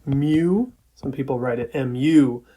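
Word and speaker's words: μ: letter which is pronounced mu some people write it mu but you pronounce it as like a cat mu and that's our notation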